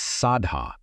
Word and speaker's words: saddhā: The poly word is sadha pronounced s ah da and it does not mean what you think it means.